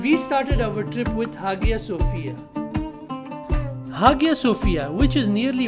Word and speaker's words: Hagia Sophia: a turkish museum and now again a masjid haga sophia or pronounced as haya sophia is not only an architecture masterpiece but also